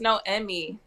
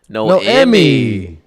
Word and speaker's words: Noemi: are you I'm good so it's pronounced no Emy no Emy yeah sh shout out